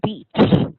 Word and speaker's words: beach: you said the word beach. Oh, I love the word because, as you know, if you mispronounce the long E and make it a short E, there's going to be trouble.